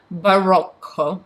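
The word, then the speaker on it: барокко: Stile, which is style, Barocco. So it's Barocco, actually. Russian R's are pronounced hard.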